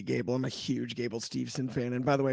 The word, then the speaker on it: Steveson: I'm a huge Gable Steveson fan. And by the way, it's not Stevenson, it's Steveson for all those out there that pronounce it all the time. It's Steveson, Gable Steveson, real simple.